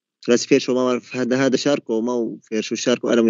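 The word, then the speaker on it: Charcot: التي هي كلمة فرنسية لا تلفظ، شاركوت بيكتبوها شاركو.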